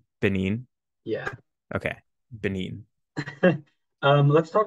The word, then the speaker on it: Benin: It's You, Benin. Benin.